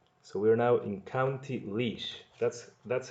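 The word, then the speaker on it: Laois: the third word so we're now in County leash that's that's how this is pronounced County leash Port Arlington Port Arlington takes its name from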